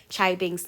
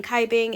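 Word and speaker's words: Cai Bing: to say thank you somebody corrected my pronunciation of chai bing's name i've been saying kaibing if i ever mispronounce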